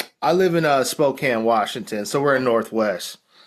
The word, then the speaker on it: Spokane: and our name was Spokane because we thought that's how you pronounced it and it sounded like cocaine.